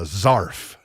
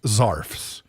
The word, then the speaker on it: zarf: I don't know if that's because it rhymes with scarf, because you wrap a scarf around your neck.